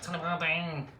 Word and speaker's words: Tullibardine: Tullibardine. How would the Scottish pronounce it? Tullibardine. That was my Scottish accent, by the way.